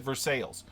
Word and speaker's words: Versailles: Kentucky is like a sister state with France, and we have a Versailles county, and they pronounce it Versailles.